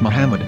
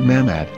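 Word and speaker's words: מחמד: after the H according to Ben yehuda's Hebrew English dictionary it is correctly pronounced as Muhammad not mammad so how we're going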